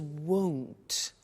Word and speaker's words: won't: before you heard me with the money is won't be careful with the pronunciation it's not want its world so the